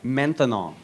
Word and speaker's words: maintenant: That's right, maintenant. Maintenant. 3 syllables, that's a long word for now.